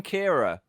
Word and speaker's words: Ciara: Storm Kiara? Ciara? Kara? I don't know how to say it. I've just read it. I didn't know how to say it. Kiara. Kara. Kira. It's Storm Kira.